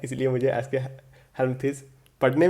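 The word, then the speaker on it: Aschelminthes: ठीक है, सॉरी, एस्केहेल्मिंथ्स बोला जाता है।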